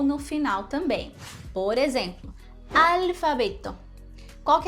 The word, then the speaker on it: alfabeto: No português eu diria alfabeto, né? Eu coloco um som de U no L. E isso no espanhol não existe. Alfabeto. Para você conseguir pronunciar esse som, coloca a língua lá em cima no céu da boca.